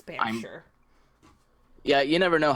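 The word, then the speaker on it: Banffshire: It looks like Bshshire, but it's Bure.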